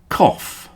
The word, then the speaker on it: cough: These are pronounced off. Off. Cough. Cough, of course, is that noise you make in your throat, like that.